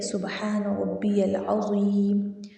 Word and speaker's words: سبحان ربی العظیم: جو ہم تسبیح پڑھتے ہیں وہ یہ ہے: سبحان ربی العظیم، سبحان ربی العظیم، سبحان ربی العظیم، سبحان ربی